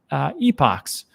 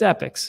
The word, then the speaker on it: epoch: I know some people say, but Rob, it's pronounced epochs or epochs, but it's epics, and that's how they pronounce it. And that's just, that's what Charles Hoskin calls it, so we're just going to go with epic, right?